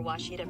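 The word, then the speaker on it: Ouachita: It's Washita, people. It's Washita. Washita.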